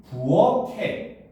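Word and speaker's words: 부엌에: 자, 그러니까 이 경우는 발음을 하면 부억해.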